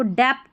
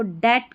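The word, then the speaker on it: debt: इसको डेप्ट नहीं, इसको डेट करके पढ़ेंगे, डेट। यहाँ B साइलेंट है, डेट, कर्ज जो रहता है, डेप्ट नहीं पढ़ना, डेट।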